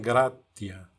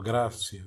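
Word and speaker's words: gratia: Por um lado, tem o termo gratus, eh, que que significa agradecido ou ou agradável e também grátia ou grácia, disse conforme a a pronúncia, né?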